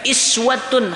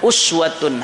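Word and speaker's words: أسوة: Iswatun hasanah, sebagian lugat membacanya lugatani, dua lugat, uswatun hasanah atau iswatun hasanah, tauladan yang baik kita ikuti.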